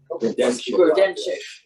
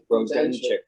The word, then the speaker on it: Grodenchik: Grodenchik. Grodenchik. Yes. Grodenchik. Mhm. Grodenchik. Yes, which is just how you would spell it, but it's Grodenchik.